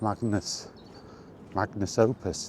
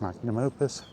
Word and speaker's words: magnum opus: to be Todd Howard's magnus opus. That's how you say it, magnum opus.